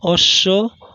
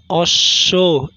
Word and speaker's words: অশ্ব: তারপর পদের মধ্যে বা শেষে অবস্থিত কোনো বর্ণের সঙ্গে বফলা যুক্ত হলে সংযুক্ত বর্ণটির দ্বিত্ব উচ্চারণ হয়, যেমন আশ্বিন, আশ্বিন, অশ্ব, অশ্ব ইত্যাদি।